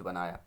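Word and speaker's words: Binet: जो है बिने टेस्ट बनाया। ये बिनेट टेस्ट है, बाइनेट नहीं है। ठीक है, बिने टेस्ट है। यहाँ पे टी क्या है? साइलेंट है।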